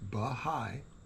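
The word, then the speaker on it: Bahá'í: not be the only bahai pronounced bigh in the club of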